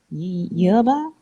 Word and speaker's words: yerba: manner but yeah yeah because it's a y sound yerba yeah oh the h